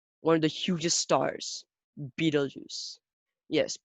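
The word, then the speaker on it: Betelgeuse: hugest stars beetlejuice yes beetlejuice like beetlejuice like a juice drinkable juice which is made of beetles yuck that's gross but it's not spilled that way it's spelled this way be tall juice so although it is called beetle juice its spelling is totally different anyways beetlejuice is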